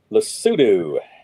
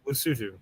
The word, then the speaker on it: Lesotho: Lesotho. Well, The THO is two. Hoodoo, Lesotho.